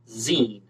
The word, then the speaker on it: Xen: xenophon anthony and he went by the nickname zine x-e-n but it's pronounced zin so i just can't stop saying